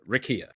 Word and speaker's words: Rickea: The the So, and it's Rakia Jackson is the proper pronunciation for her name.